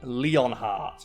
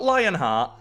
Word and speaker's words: Leonhart: video on it Squall leonheart which kisses me the hell off so did you know that squall's last name is Squall leonhart not Lionheart Leon heart l-e-o-n heart even though it's not